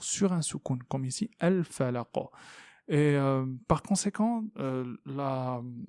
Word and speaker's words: الفلق: Falaqa, falaqa, et non pas falaqa, mais falaqa. Donc c'est comme s'il y a un claquement, vous voyez.